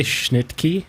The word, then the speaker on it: Schnittke: Did you say Schnittke? Was that the? Yeah. I've heard it pronounced both Schnicke. I've heard it both. I think it's Schnicke though, is how it's pronounced.